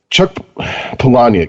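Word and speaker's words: Chuck Palahniuk: few days ago off the air um like chuck polonia that's how you pronounce his name right yeah yes okay i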